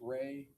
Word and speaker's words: Rey: There's also a visual spatial ability test and I'm going to have you explain or pronounce that for us. the REY test. Ray, the Ray Ostrich complex figure test.